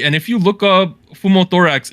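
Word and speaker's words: pneumothorax: to be recovering in the hospital after undergoing fumo thorax surgery and if you look up fumo thorax it's collapsed lung so something was wrong with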